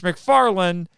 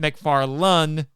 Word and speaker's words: McFarland: Although, at my suggestion, Mitch McFarland, not McFarlane, just for clarification, the showrunner on there, at my suggestion, he has been doing some Fantastic Four one-off specials.